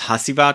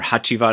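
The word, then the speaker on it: Hacivat: really known for is hasibat or hachiva I should say in the Turkish pronunciation then there's an version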